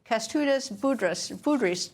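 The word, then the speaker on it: Kęstutis Budrys: Foreign Minister of Lithuania, Kestutis Budrys, joins me.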